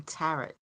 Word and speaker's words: tarot: The T is silent in tarot.